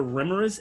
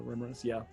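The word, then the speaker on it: Remorhaz: were those eggs called they're remorse eggs um remember i think i'm pronouncing that correctly but the creature is spelled r-e-m-o-r-h-a-s the rumors yeah so now imagine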